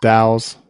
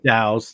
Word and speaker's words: DAOs: defi or daos or I believe they're pronounced dows dows thank you again again